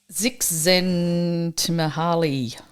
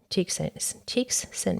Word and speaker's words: Csikszentmihalyi: Csikszentmihalyi. I know, right? So he's this. Okay, no, hold on, down here.